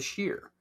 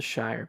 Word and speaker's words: Shire: Okay, in Lord of the Rings, were the hobbits from the Shire or were they from the Sheer? They're from the Shire because that's the way Uh-huh. they pronounced it.